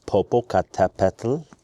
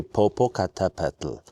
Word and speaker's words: Popocatépetl: This volcano, active volcano, is called Popocatépetl, which is a mouthful.